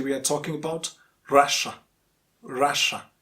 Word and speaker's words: Russia: are talking about russia russia it's not russia russia and people from russia russians